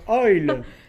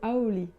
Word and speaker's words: Owlle: Je suis déjà extrêmement gêné parce que je ne sais pas prononcer ton nom. Oil. Non, alors, Ah voilà, tu vois. si on le Owl. dit bien, Ah. c'est Aoli.